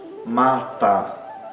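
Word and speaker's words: माता: Mata. As duas sílabas são fortes, são longas, são abertas.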